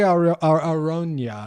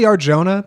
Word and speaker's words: Arjona: right up until he meets uh Madison Audrey Arona I think is how you is it really Arjona that's that's that's the pronunciation Arjona Audrey Arjona Aron I know yes